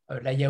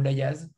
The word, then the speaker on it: Layaz: Donc de Michel Laya, Laya ou Layaz. Nous, on ne prononce pas le Z, mais vous pouvez le prononcer.